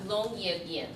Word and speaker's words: Longyearbyen: So last fall, she went to the world's northernmost town, and how do you pronounce that? Longyearbyen.